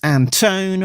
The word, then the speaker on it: Anton: Editor is Alex Anton rhymes with phone.